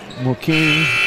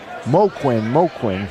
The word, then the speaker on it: Moquin: And that's going to be on Mokeen. Is it Brendan Mokeen? Just want to get the correct pronouncing. Moquin.